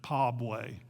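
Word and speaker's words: PABWE: baptists for world evangelism they pronounced it as a word as an acronym pabway sending filipinos to thailand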